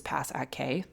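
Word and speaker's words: pass@k: According to Claude, you pronounce this pass at K.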